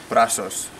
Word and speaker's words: Brazos: The brand is Old Country Barbecue Pits, and this is the Brazos smoker, or the correct Spanish pronunciation, Brazos. After all, it was made in Mexico.